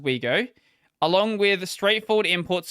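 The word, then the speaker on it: Ouigo: including train operator uh sn cf's brand wego pronounced wego along with the straightforward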